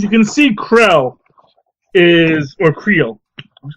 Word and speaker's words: Creel: I'm pretty sure they say Creole because it's like C-R-E-E-L.